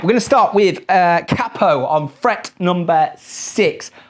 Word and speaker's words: capo: to start with uh cppo on Fret number six I know if you're in the states pronounce Capo but I'm from the UK I'm a cppo man sorry and we we're